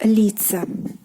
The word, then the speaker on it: лица: Next we have this one, which is лицо, meaning face, лицо, and here again the position of stress changes, we get лица.